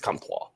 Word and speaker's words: Comtois: With Maxime, it's got to be French, right? Where's he from? He's from Quebec. It's Comtois.